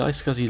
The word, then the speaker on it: iSCSI: open the Storage Manager application and select the I scuzzy LUN tab on the left now I scuzzy